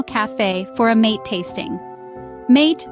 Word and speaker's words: mate: for a mate tasting mate pronounced mate is more than just